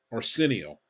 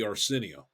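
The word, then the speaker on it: Arceneaux: you pronounce his name a r ceen e Au X oreno I think is how you pronounce that because the aux um is is pronounced o the Creole French whatever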